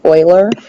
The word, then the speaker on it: Euler: know it looks like euler or something it's pronounced euler that's what most people pronounce it um and